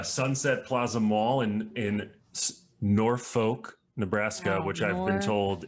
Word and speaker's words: Norfolk: the week uh sunset plaza mall in in norfolk nebraska which i've been told is pork nor